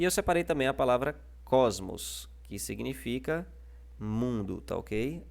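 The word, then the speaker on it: κόσμος: E aqui nós temos a separação de cos, primeira sílaba, e que é a penúltima da palavra, e a sílaba mos, tá ok? Que é a última sílaba da palavra. O acento está na penúltima.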